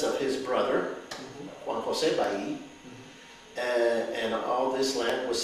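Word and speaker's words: Balli: On my mother's side, she's Ba'i, and it's a name that is well known in the lower Rio Grande Valley.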